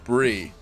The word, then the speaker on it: Brie: Brie is not pronounced Bry, it's pronounced Brie.